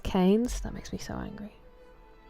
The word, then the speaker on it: Keynes: It's pronounced Keynes.